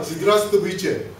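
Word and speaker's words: Здравствуйте: 1년 걸렸어요 왜 그러냐면이 아 즈드라스트 부체 즈 예 시옷과지 그 사이의 발음을 혈을 울려 주면서 발음을 해야 돼요 근데이 바다을 안 모으니까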